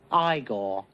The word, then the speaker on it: Igor: You must be Eigor. No, it's pronounced Igore.